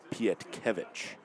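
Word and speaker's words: Pietkiewicz: Pietic is what I usually said. Technically, I believe it's Piet Kevich. The emphasis just in a similar but different spot.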